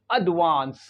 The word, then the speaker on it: advance: इसे क्या पढ़ेंगे एडवांस so this word is pronounce एडवांस एडवांस एडवांस वांस वांस यानी ये जो सेकंड सिलेबल है वी के बाद जो ए है इसका जो साउंड निकलेगा वो जैसे कि फादर में ए होता है उसी तरह से निकलेगा